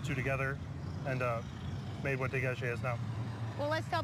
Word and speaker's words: Dégagé: Dégagé.